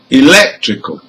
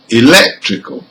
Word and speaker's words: electrical: Now with rule number 4, also words ending in AL has the stressed syllable third from the end. So let's hear some of them. Number 1, critical. Number 2, economical. Number 3, practical. Number 4, electrical.